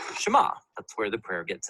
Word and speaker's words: Shema: is here or listen which in Hebrew is pronounced Shema that's where the prayer